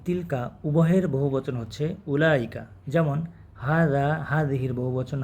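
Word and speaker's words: أولئك: তিলকা উভয়ের বহুবচন হচ্ছে উলাইকা যেমন হাদিহির বহুবচন হা উলাই জালিকা তিলকার বহুবচন হচ্ছে উলাইকা উলাইকা এর ওয়াও উচ্চারিত হয় না কারণ আমরা কিন্তু এখানে বলছি না যে উলাইকা এরকম কিন্তু না এই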